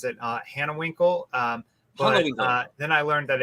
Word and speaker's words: Hanewinckel: How do I pronounce the last name? Hanewinckel.